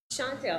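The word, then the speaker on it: Chantal: Chantel, actually. Chantel McClam. Okay. It's spelled with the A, but it's pronounced the same way as the name.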